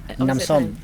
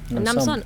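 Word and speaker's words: น้ำส้ม: How do you say this in a Namsom. Namsom. Oh, Nam is water. And Nam and S-O-M, like som. Namsom, so water orange. Well, it's just Nam means like drink, like orange juice. Oh, Namsom with an M.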